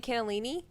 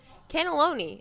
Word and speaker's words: cannelloni: Anyway, And then I was like, man, if I was standing here pronouncing this wrong the whole time, I was saying cannellini. Cannelloni? Is that what it is, Kayla? Cannelloni is what it is.